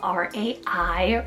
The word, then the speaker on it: Rai: We have the name Rai, spelled R-A-I, Rai. This is such a cool, just one syllable name.